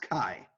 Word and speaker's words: Chi: soon oh she Orkut no I'm sorry it's Chi it's pronounced Chi yeah it's in each eye I didn't know yeah in mr. Luckman there are no soft C's in Greek or in Roman so it's not even